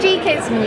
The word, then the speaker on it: Geekism: It's geekism, as in a geek.